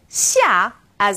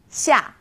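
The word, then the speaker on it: 下: Now this sound is somewhere in the middle of SH and S.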